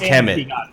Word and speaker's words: KMT: But it's KMT, but it's pronounced Kemet.